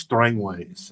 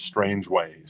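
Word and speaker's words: Strangeways: once told me that it's pronounced strangways instead of strange ways so I don't know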